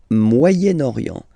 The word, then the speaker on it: Moyen-Orient: So it's interesting here because normally if you would have only this word here, you would pronounce it moyen, moyen. Okay, but then as you've got this vowel after, okay, you get to make the liaison between the two, le Moyen-Orient, Moyen-Orient.